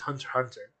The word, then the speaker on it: Hunter x Hunter: people argue that like Hunter x Hunter no it's hunter hunter or spy X family